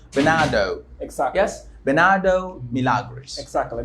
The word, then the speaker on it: Bernardo Milagres: So we can say, okay, so if you're good at pronunciation, or if you know something about pronunciation, you should say Bernardo.